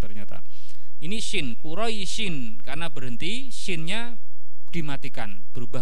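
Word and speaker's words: قريش: Nah, di bacaan kita Bapak Ibu, ini dibacanya panjang 6 harokat. Jadinya gimana? Quraish.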